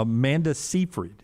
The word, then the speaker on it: Seyfried: Yeah, Amanda Seyfried is how you say her name? Yeah.